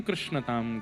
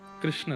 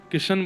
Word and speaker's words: कृष्ण: कृष्ण, इस शब्द का उच्चारण कई लोग शुद्ध नहीं करते, क्योंकि शुद्ध कर लेंगे तो फिर भगवत प्राप्ति हो जाएगी। इसलिए सब लोग इस नाम को, कोई किशन बोलता है, कोई कृष्ण बोलता है, कोई कुछ बोलता